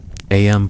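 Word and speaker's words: Eyam: Aam pronounced just like Ing is a peaceful community about 800 souls.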